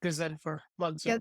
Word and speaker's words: Ghazenfer Mansoor: I'm joined here today with a very special guest, Ghazenfer Mansoor. I'm sorry, did I mispronounce that again? I asked you right Ghazen, before we started. that's perfect. Ghazenfer Mansoor.